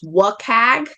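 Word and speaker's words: WCAG: That acronym is frequently pronounced WAG.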